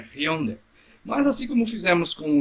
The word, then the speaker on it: Hyundai: Por isso que, assim, só a título de curiosidade, aquela marca de carro que todo mundo fala Hyundai, na verdade seria Hyundai. A pronúncia coreana é Hyundai.